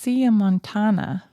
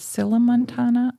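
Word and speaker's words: sillamontana: Um I think it should be pronounced siamontana. Okay. But it has two L's. So perhaps you would pronounce it sila montana.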